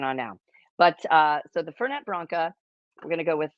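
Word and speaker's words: Fernet-Branca: But the family pronounces it Fernet Branca.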